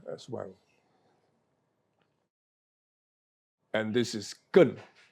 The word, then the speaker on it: 艮: And this is Gen. Gen, pronounced in the 4th tone, symbolizes mountain.